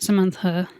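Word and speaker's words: SMNTHUA: name, channel name to it's spelled S M N T H U A and it's just my my name which is Samantha and just Samantha is how you pronounce it.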